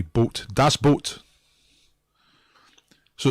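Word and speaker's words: Das Boot: all right or that's boot if you want to say it like that but a german pronunciation would be boat that's boat so it's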